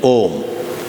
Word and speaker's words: Om: It is made of a, u and but because of sandhi, it merges into a single syllable, Om.